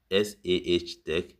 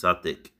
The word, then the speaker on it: Sartec: said here is that it's calling it as SAH Tech. So I need to correct ChatGPT that what I want the pronunciation to be is this Sartec, but not that spelling.